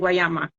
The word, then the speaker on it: Guayama: right but no I was not born in guayama okay um I was raised in guayama I